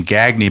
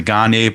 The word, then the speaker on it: Gagne: gagne with a spoon interesting how he's pronounces his name gagne because the wrestler uh the wrestling family gagne family pronounces it gagne same with eric gagne from the dodgers he pronounces the ghani but this one is greg gagne i always remember that because it was in the 80s and the gagging with the spoon was kind of a cult saying flanagan now six